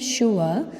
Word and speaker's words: sure: See, you can see that in the word sure, S is pronounced as, that is alphabet S is pronounced as sh.